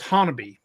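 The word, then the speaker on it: Honobia: i a it looks like hobia but it's pronounced Hanabi it's kind of like if you look at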